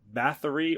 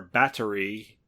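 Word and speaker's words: Báthory: I just did the first line countess Elizabeth Bathory or battery depending on how you pronounce it I've heard it pronounced both ways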